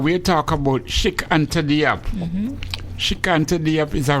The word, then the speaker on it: Diop: The last name is Diop, D-I-O-P, Diop.